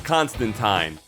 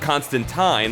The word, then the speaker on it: Constantine: terrifying number two John Constantine whether you pronounce it Constantine like Alan Moore does or Constantine like pretty much everyone else the hellblazer is